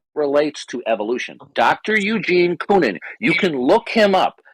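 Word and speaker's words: Koonin: for you who your great embarrassment Dr Eugene coonan is one of the few oh so you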